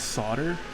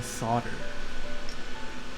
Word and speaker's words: solder: How do you pronounce solder? Is it not solder? The L is silent to what I understand.